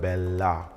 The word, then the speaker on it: bella: la of the word bella. On this word, you must also observe the double consonant in bella by singing the preceding E vowel shorter.